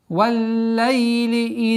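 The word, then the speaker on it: والليل: Валлайли ида саджа. Уходим на звук фатхи, на лям, удваиваем. Валлайли, валлайли. Удержание.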